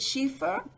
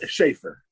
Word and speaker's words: Schaefer: Is it Schiefer? It's Schaefer. It's Schaefer.